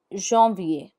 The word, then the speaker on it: janvier: For example, January is janvier, which is written as janvier. Janvier. You can pick up the pace once you've learnt the pronunciation of this word properly. Janvier.